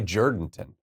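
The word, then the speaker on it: Jourdanton: You say Jordanton. Yeah, it's Jordanton. Jordanton. Yeah. But it's spelled Jour, right? Yeah. Okay. But everybody there pronounces it Jordanton.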